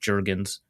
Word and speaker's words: Jurgens: So if anyone remembers like the viral clip of Jordan Davis and Cam, I guess Ben told me it's pronounced Jurgens. That feels wrong, but we'll go with it.